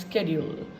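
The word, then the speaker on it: schedule: should य एंड in American English it इ pronounce स्केड्यूल सो इट इज a subtle difference but इट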